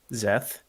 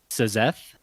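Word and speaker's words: Szeth: starts with an S so it's s z eth interesting but okay but are you telling me that they just pronounce that zth yes zth they pronounce it zth as in a z and then eth they just eth yeah the S is silent is in the audio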